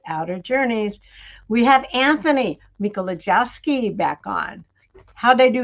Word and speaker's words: Mikolojeski: We have Anthony Mikolojeski back on.